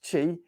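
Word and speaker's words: qi: allow Life Energy called Chi interestingly sort of spelled q i but it's pronounced Chi that life energy to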